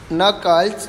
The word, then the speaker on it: knuckles: And one more important topic, use the knuckles to remember. K is silent over there.